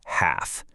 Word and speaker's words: half: And the exact same rule applies to the word half. Doesn't matter if you're talking about half an hour or cutting a pizza in half. You never ever pronounce that L.